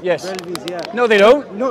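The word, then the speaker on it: Barelvi: Do the Deobandi agree with the Baravelvi? I might have mispronounced. Yes. Brelvis, yeah.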